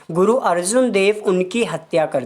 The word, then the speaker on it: अर्जन देव: Next question is name the Mughal ruler who killed Sikh Guru अर्जन देव। अर्जन देव भी बोला जाता है या अर्जुन देव भी प्रोनाउंस किया जाता है, कि उस मुगल शासक